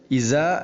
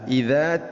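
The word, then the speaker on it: إذا: മാലുഹു ഇദാ തറദ്ദ, ഇദാ തറദ്ദ എന്നുള്ളത് ഇസ ആവരുത്. ഇസ അല്ല, ഇദാ തറദ്ദ.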